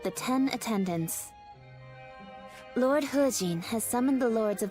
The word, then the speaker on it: He Jin: He Jin, not He Jin. So it's pronounced as her, with an R, a visible R.